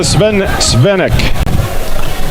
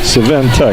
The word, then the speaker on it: Sventek: Deborah Svenek. I'm hoping I pronounced these names correctly. Sventek? Sventek. Oh. Katie with the bump. They're missing a T in that.